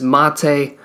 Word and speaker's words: Maté: He has an accent on the E. It is Maté.